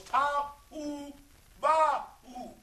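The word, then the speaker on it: tohu wabohu: So it's Tahu Bahu. That's how it's pronounced. Because this is Hebrew.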